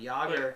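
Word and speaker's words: Jäger: no I know but joer has the double dots over that makes a long a sound yoger but joer is a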